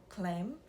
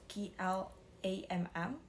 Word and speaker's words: Klamm: Dia itu berusaha keras banget untuk menghubungi pihak kastil, terutama seorang pejabat misterius bernama Clem. Actually, I don't know how to pronounce his name. It's Klamm.